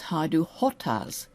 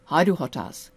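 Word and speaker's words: Hajdúhadház: And it's Haidu hotaz. Haiduh hotaz. That d is pronounced as a t.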